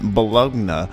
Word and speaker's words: Bologna: and now we're in Bologna how do you pronounce it the log no Bologna okay if it was Bologna or bolonia Balad 'no that's where we are yeah because you were